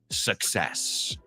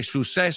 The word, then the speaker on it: success: sound measure and success I've heard a lot of people say sucess Su success Su success success so how do you